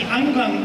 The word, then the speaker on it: angklung: have an orchestral performance it's pronounced the angang orchestra and the instruments are